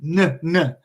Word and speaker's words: know: wool wara breath and no right so we just have to remember the Conte texts so let's say like no and this has two silent letters K and Oh W right instead of no